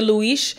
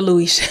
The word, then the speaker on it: Lewis: it Connie introduces Luis it was spelled Lewis but they pronounced it Luis so I'm gonna pronounce it Luis honey introduces Luis to